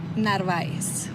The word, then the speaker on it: Narváez: Narváez.